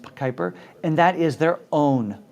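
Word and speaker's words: Kuiper: one second here uh the project is Kyper Ki p r spelled Kyper or pronounced Kyper and that is their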